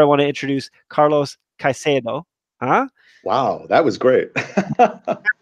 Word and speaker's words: Caicedo: And that's where I want to introduce Carlos Caicedo.